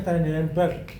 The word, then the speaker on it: Trendelenburg: Bacanya Trendelenburg.